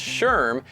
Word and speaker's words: SHRM: League a recent study by SHRM pronounced Sherm found that 38% of